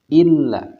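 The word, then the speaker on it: إِلَّا: Atau dalam lafad illa. Nah, ini pun perlu ditekan.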